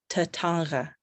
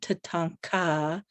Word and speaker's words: Tatanka: And so I've just become obsessed with Tatanga, so my uncle would correct me and say, it's not Tatanka, it's Tatanga. Like, so I'm not even saying it right because it's more guttural.